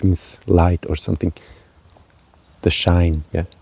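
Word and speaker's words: Schwein: schine schne schine and this s CH of course is a special sound in German which just pronounced differently than in English like school but here we say shine shine um yeah you have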